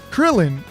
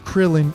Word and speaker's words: Krillin: And that's what I think Krillin is. It's really easy to read, it's really easy to pronounce. Krill and in are two English words that exist, right?